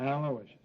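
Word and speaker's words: Aloysius: Aloishious.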